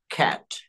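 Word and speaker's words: cat: হ্যাঁ, তারপরে ক্যাট বলবো না, এটাকে আমরা বলবো খ্যাট। ওকে, খ্যাট বলবো।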